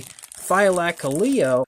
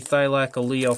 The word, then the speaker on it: Thylacoleo: And this is a Thylacoleo, I believe is how you pronounce the name.